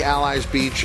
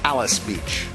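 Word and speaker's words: Alys Beach: at Churchill Downs I know it looks like allies Beach uh but K and Brar informing us the correct pronunciation here is Alice Beach believe that's her on the inside correct the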